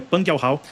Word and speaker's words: Pang Yao: O nome certo, a pronúncia certa, pessoal, é Pang Yao, e o doutor, claro, um cara respeitoso, mas eu que o conheço bem, vou chamar ele de Peng, que é como eu estou acostumado a chamar, e o pessoal pega pela pronúncia em português mesmo.